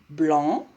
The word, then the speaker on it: blanc: Le C ne se prononce pas.